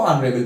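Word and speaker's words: honourable: लेकिन इसमें H silent रहता है।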